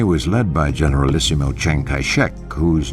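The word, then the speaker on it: Chiang Kai-shek: China's nationalist army was led by General Isiml Cheng Kaishek whose name in the Mandarin dialect is pronounced Jong Kaishe.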